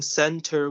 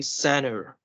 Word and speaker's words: center: So next you have suppose words like instead of saying center, we're going to say center, Center.